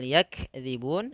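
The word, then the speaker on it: يَكْذِبُونَ: Kemudian pada lafal yakdzibun, sifat kaf harus terdengar dengan jelas.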